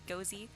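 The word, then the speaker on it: GoZ: my hair says interesting first have heard anyone spell out g-o-z of hers always heard it as ghosy um as in go to zbrush that makes sense i know people spell it out i don't know cozy makes a lot of sense so just importing a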